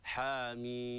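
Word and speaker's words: حم: القراءه سنه متبعه اذا النطق الصحيح للميم بمقدار الست حركات حا مي طيب لو وصلنا يعني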